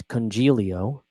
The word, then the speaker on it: Congilio: It's Congilio. I saw a YouTube comment the other day that said, "Are you sure it's not Coniglio?"